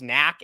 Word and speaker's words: NAAK: Okay, so the company that's received the most amount of subsidy since 2018, I believe they're pronounced NAAK, N-A-A-K.